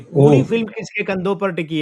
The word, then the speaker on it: Preity: इनका मूल नाम तो प्रीटी झिंगटा था। जेड आई एन जी जी प्रीटी प्रीति नहीं प्रीटी वो अंग्रेजी वाला प्रीटी सुंदर प्रीटी वुमेन वाला स्पेलिंग तो वही लिख रही है अभी मतलब अभी तो लिख रही है इनका नाम लेकिन हिंदी में प्रीटी का प्रीति हो गया प्रीति जिंटा हिंदी में